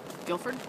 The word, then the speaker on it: Guilford: am in guildford connecticut i think that's how it's pronounced g-u-i-l-f-o-r-d guilford it's guilford now hi